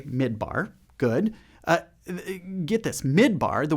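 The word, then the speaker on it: מדבר: You say midbar. Good. Get this. Midbar, the word for desert, is spelled the exact same way in Hebrew as the word for speak.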